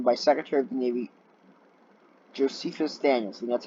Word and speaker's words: Josephus Daniels: in the Union by Secretary of the Navy Josephus Daniels and that's how you pronounce that the New York Times estimated that